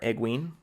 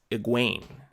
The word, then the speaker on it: Egwene: with Egwene so yeah I was calling her egg ween emphasis on the egg egg ween but no it's egg Wayne Wayne emphasis on the second syllable their egg Wayne sounds